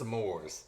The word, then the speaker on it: s'mores: it's spelled some more he doesn't say s'more it's not there's a difference between s'mores and some more how's it smelled s'more